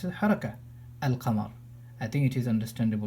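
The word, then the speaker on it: القمر: forget the waw, and if I start from al-qamar, I will pronounce the lam, because this is something which is telling me that the second letter has a fatha on it, so it's a haraka, al-qamar.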